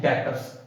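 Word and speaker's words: debtors: हमारे क्या होते हैं, डेटर्स। मैं बोल ही देता हूं आपको, जिन लोगों से हमने पैसा लेना है वो हमारे होते हैं डेटर्स। Spelling DEBTOR, B silent होता है, ठीक है।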